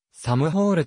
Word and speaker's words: SM: 加算されるまた sm はサムホールと読むありがとうがございます